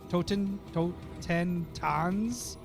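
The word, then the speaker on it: Totentanz: look it up maab no it's Toten Toten Toons t o t e n t a n z all right do you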